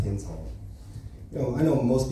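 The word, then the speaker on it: Hind's Hall: new Pro Palestine song called uh Hines hall or pronounced hin Hall you know I know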